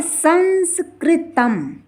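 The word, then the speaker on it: संस्कृतं: अगला है हमारा शब्द संस्कृतम, जिसमें बीच में भी बिंदी है और लास्ट में भी बिंदी है। अर्थात इसमें प्रथम का अर्थ उच्चारण होगा ना, क्योंकि ये बीच में है, और लास्ट वाले का उच्चारण होगा माँ। जैसे संस्कृतम इसे पढ़ेंगे, ना कि इसे हम संस्कृतम पढ़ेंगे। बीच का उच्चारण क्या करेंगे, हम ना करेंगे, और लास्ट वाले अनुस्वार का उच्चारण हम माँ करेंगे।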